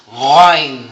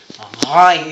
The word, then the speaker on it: Ghain: Lumalabas sa ilong ang ano nito. Para sa ngala-ngala siya, ngunit mayroon siyang exhale na lumalabas sa hangin sa ilong pag binibigkas na ito. Ghain. Okay? Ghain.